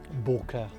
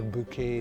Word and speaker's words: bokeh: it's supposed to have very good bokeh or bouquet depends on how you want to pronounce it i've not used this